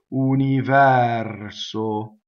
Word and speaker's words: universo: Open E on the stress of universo. Closed O.